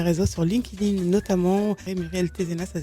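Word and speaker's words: Thézenas: Et Muriel Tézenas, ça s'écrit T-H-E-Z-E-N-A-S, fondatrice du réseau Femmes Inspirantes et de Gétro Consulting.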